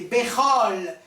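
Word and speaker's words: בכל: Un des signes qu'il faut dire Bechol, parce que, en principe, le O, le kamos, kamas, katan, le petit kamas qui se prononce O, qui est une voyelle courte, une voyelle brève, il est suivi d'un trait d'union qui le relie au mot qui suit. Donc, Bechol.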